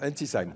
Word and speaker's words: Ensisheim: Vous habitez Ensisheim, c'est comme ça qu'on C'est ça, Ensisheim. qu'on prononce dans le Haut-Rhin.